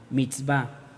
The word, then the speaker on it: mitzvá: llama en hebreo mitzvá se escribe m y tz v a mix va esta palabra mix va refiere exactamente a los